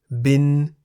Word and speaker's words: บิน: Examples of words containing Sara-E are bin in the middle tone, meaning to fly, and hin in the rising tone, meaning stone or rock.